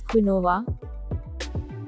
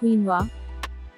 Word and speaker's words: quinoa: it is mispronounced as quinoa but its correct pronunciation is quinoa first syllable is keen and it is primarily stressed second syllable is so